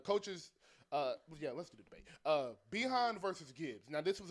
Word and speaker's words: Bijan: It's Behan. Like Dijon mustard.